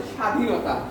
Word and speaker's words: স্বাধীনতা: এটা একটু ক্লিয়ার যে শুরুতে বফলা আসলে উচ্চারণ হবে না। তাহলে আমরা সেই এটা বলে স্বাধীনতা।